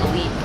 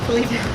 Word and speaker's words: Felipe: Mom calls him Philippe. Felipe.